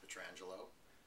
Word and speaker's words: Pietrangelo: say your first and last name through the pronunciation right my name is Pietrangelo i'm a senior vice president and chief not